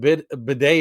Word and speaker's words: bidet: did seem like, because you can never tell what's a silent T or not, you know.